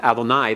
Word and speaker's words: Adonai: the Lord God now normally one's pronounced this way and pointed with the Comets at the end Adonai that is primarily a